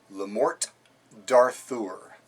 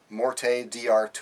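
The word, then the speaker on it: Le Morte d'Arthur: let me repeat that the pronunciation of the work of literature that we're looking at this week is lamort darthur not morte diur or morte de Arthur people have trouble pronouncing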